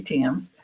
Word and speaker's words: Thames: Facebook you know by my name Tims and it's spelled t h mes um so yeah so